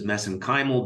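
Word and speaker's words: mesenchymal: And of course you study uh MSC stem cells which I pronounce as meenymal because that's how they pronounce it in Ireland.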